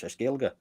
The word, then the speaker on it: Gaeilge: Irish is Gaelic or Gaeilge. They don't really say Gaelic in Ireland, it's Gaeilge.